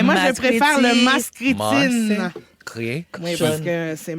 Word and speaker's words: Maskriti: de quelqu'un qui capote quand tu dis le mot mascriti.